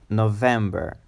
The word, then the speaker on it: November: of the year is November. November. It's a three-syllable word and with the emphasis on the second syllable, them, like in red, them, November. And the last syllable is quicker, November, November, November.